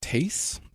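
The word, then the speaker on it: Thaïs: this hia named um I think it's pronounced Tas t h a i s um having a drunk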